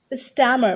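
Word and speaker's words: stammer: मैंने आपको प्रोनाउंसिएशन के कुछ बेसिक रूल बताए थे, तो उसमें मैंने बताया था वॉल के बाद आर को प्रोनाउंसिएट मत कीजिए, तो स्टैमर, नो, स्टैमर, स्टैमर, ठीक है।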